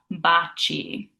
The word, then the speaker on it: baci: So if we have a C followed by an I or an E, it's a ch sound, like cheers in English. For example, in the word baci, which means kisses, we have a C followed by that I, so it makes it a ch, baci.